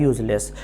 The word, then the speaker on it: use: यूएस ई इसका pronunciation यूएस ई को हम यूज जट के आवाज से बोलते हैं जिसको जी भी बोलते हैं यह जब वर्ब के तौर पर इस्तेमाल होता है लेकिन जब ये नाउन